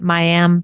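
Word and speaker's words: Mayim: Yeah, Miam. I've heard her say Mayam Bialik.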